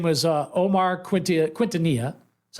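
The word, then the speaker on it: Quintanilla: short stop his name was uh Omar Quinta quintonia that's how you pronounce it played nine Big League seasons and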